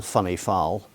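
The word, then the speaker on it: Whinnyfold: And he chose to stay at lodge in a cottage in a place called Wenny Fold, which we call funny foul because no Abodine should place name is pronounced the way it's written down.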